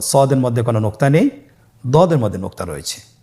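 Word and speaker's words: ضاد: সদের মধ্যে কোনো নোক্তা নেই, দদের মধ্যে নোক্তা রয়েছে। দদ হরফটি উচ্চারণ করার সময় অবশ্যই 3 আলিফ টেনে পড়তে হবে।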